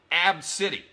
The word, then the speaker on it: ABCDE: here who decided to name her daughter AB B CDE e and pronounce it AB City I'm sorry if I